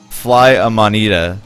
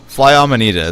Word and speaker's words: fly amanita: even want to know is it fly a monitor let me look at it let's see how you say it i don't want to